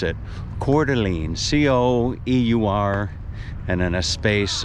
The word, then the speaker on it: Coeur d'Alene: to learn how to spell that let alone pronounce it coeur d'alene c-o-e-u-r and then a space and then a